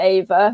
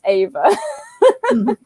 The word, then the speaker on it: EYVA: being confusing again and we've gone back to ava so that's an answer to it the next video will be it will be pronounced eva now um so you mentioned